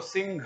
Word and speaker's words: सिंह: तो सिंह घ करते हैं, वहां घ है क्या? घ नहीं है, तो इसलिए सी, ये तो सी हो गया, उसके ऊपर अनुनासिक है तो नाक में उच्चारण हो गया सी, और बाद में ह का पूरा उच्चारण करना, सिंह ह, सिंह ह, ये सही उच्चारण होगा, सिंह नहीं बोलना है।